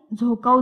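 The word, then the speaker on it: Dzükou: त्यानंतर आहे झोकाव दरी. ह्याची स्पेलिंग थोडी वेगळी आहे, डी सायलेंट आहे.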